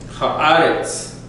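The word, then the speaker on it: הארץ: Anytime you have Eretz, as in earth, Eretz. Okay? Even when it takes the Eva, Haaretz, the emphasis goes on the first syllable.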